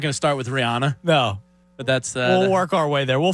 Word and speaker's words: Rihanna: case about mispronouncing Rihanna I've always thought it was Rihanna it's Rihanna like there's like an Anna in there did she tell him